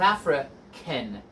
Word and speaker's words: African: You would say South African. Again, even though it's AN, the sound is more of an IN sound, in.